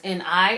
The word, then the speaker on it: 네: So this word 내 is spelled as N-E, but it's actually pronounced as N-I.